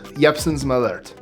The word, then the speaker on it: Jeppson's Malört: It's Chicago, so it's probably Jeppson's Malört. But I looked up the Norwegian pronunciation, so Jeppson's Malört.